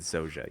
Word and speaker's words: Zoja: Also, I keep pronouncing it Zaja. It's Zoja? I believe they pronounce it Zoja, yes.